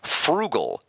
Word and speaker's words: Phroogal: but this is called Frugal P HR o o g a l again pronounced just like Frugal watching your money but it's p h